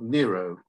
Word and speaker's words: Nero: this fella he's called Nero and he is the man who fiddled while Rome burned um he's also relevant because his name happens to rhyme with Net Zero um maybe coming back